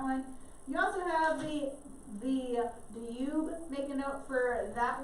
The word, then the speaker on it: Danube: It looks like Danube. They don't pronounce it that way. So I know it looks like Danube. It's Danube. They put a Y sound in it.